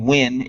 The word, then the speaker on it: Nguyen: Because there was an Asian kid when I was in high school, and he pronounced it Nguyen. Maybe he just did that because just he Americanized it. Exactly. Yeah. It's Win. It's Win.